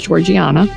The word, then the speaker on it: Georgiana: Amanda and I were going back and forth about the pronunciation of her name and I was able to confirm it was Georgiana out of the three